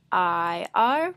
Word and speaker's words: ir: It's spelled I-R, but it is pronounced ir.